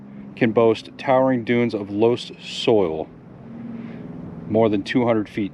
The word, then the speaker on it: loess: is in its name los which rhymes with bus is german for loose soil hmm okay because the